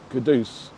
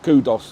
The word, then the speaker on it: Kudus: Yeah, I definitely think they should know that his name is Kudus. Starboy. Yeah, Starboy, not Kudos or anything like that, because we're East End